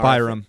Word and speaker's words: Byram: 24-year-old is an Byram. That's a fine. I said Byram. You said Bynum, like Andrew Bynum.